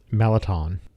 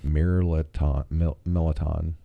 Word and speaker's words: mirliton: Shrimp and Melliton. It's spelled Mirliton. Mirliton.